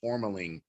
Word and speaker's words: tourmaline: bring to the world, tourmaline, like if you take that water and you bring it to these coherent stuff, it literally, the first syllable is tour, and it'll give you